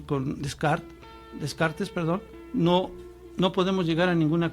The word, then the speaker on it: Descartes: ¿Cómo se pronuncia, señor productor? Descartes.